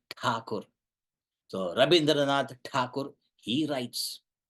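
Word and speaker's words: Thakur: rindra takur rabindra takur we call him RAB tagur it's not tagur it's takur so rabindra takur he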